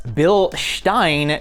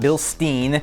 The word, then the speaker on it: Bilstein: Yes, Bilstein, not Bilstein. I'm gonna try to use the correct German pronunciation in this video.